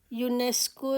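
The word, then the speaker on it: UNESCO: next है शी इज यूनेस्को representative यूनेस्को यू यूनेस्को को तो यहां पर भी देखें फर्स्ट वर्ड फर्स्ट लेटर इसकी साउंड य की है तो हमारा यहां पर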